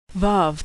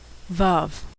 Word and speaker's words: Vav: Vav can be pronounced like the V in victory, the O in home, or the U in moon, which is usually transliterated as U.